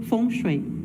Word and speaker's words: feng shui: Então, geralmente a gente fala aqui no Brasil fengui, né, a gente ou foni, mas a pronúncia, né, digamos assim, mais próxima ao chinês seria fonchui, né, mas a gente responde aqui pro Fonché, o fenchui, a gente vai responder igual.